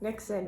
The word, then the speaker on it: niksen: pronunciation about 20 times i wanted to make sure i was pronouncing it correctly nixon because it is a dutch word not a former u.s president so first i'm going